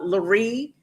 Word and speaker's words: Larie: So go to YouTube, look up Larie Daniel Favors. Rhymes with Marie.